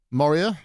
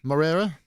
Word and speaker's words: Morera: there, by the way, Mr. Moria. Morera. Sorry, I don't know how the accent above the E is pronounced.